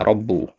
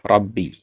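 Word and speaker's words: رَبِّ: Nah, tadi antum bacanya rabbu ya. Yang benar adalah rabbi ya karena dia sebagai mudhaofun ilaih.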